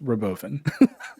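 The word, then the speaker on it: Robovan: bunch of other like sorry David it's pronounced Roven you think I'm joking listen to Elon pronounce it he says Roven it's the Roven yes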